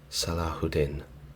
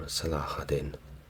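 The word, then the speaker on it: Salah ad-Din: best from memory and say that is pronounced salahudin or salahadin correct me in the comments if you will now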